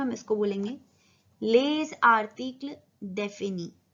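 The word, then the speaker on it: les articles définis: यहाँ पे लिएजो बनेगा क्योंकि जो ले है, जो एस है वो साइलेंट है और जो नेक्स्ट वर्ड है वो वॉवल से स्टार्ट हो रहा है। तो यहाँ पे एस प्रोनाउंस होगा पर इसका साउंड चेंज हो जाएगा और वो हो जाएगा ज।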